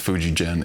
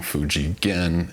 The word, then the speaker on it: Fujigen: I was informed that that is not how it is pronounced. Fuji Gen is wrong. Fuji Gen is right.